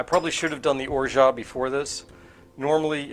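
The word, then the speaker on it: orgeat: And pronunciations of that word are all over the place. Orat or is wrong. We know that. Orat is wrong.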